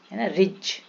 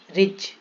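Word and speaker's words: ridge: करेगा एज इसको एडज नहीं पड़ेंगे budget budget रिज रिज ब्रिज क अय जी साइलेंट जी कहा साइलेंट होता है एन के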